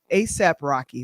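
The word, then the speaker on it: A$AP Rocky: Last night, according to Deadline, Highest to Lowest with Denzel Washington, ASAP Rocky, that's how you pronounce his name, Ice Spice, and director Spike Lee, and that's for A24's Apple's Films red carpet premiere at BAM.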